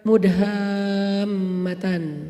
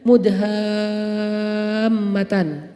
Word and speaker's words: mudhammatan: Namanya surga mudhammatan. Bacanya juga harus panjang karena dia rimbun banget. Sehingga bacanya mudhammatan.